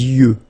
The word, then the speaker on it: yeux: Les yeux. Okay, final X not pronounced.